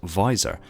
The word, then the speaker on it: VISOR: Visual Intelligence System Reconnaissance, abbreviated to and pronounced as VISOR, is a specialised data management system for MJOLNIR.